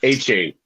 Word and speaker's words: Achane: Devin Achane, if I pronounced that correctly, right there, Zach? Ooh, yeah. Achane.